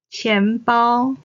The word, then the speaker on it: 钱包: 茶杯茶杯 Then, 钱包 purse or wallet. Again, 钱 is the second tone. 包 is the first tone.